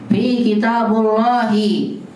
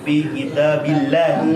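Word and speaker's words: في كتاب الله: Fi kitabullahi. Salah. Fi kitabillahi. Nah, itu dia.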